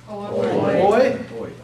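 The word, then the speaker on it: οι: Third, omicron iota. Oi.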